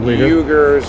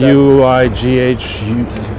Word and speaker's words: Uyghurs: It's not spelled the way I'm pronouncing it, but it's pronounced, I believe, Uyghurs or something like that. Uighurs.